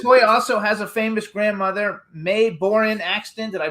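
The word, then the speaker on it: Mae Boren Axton: So you guys also has a famous grandmother May Borin Axton. Did I pronounce it right?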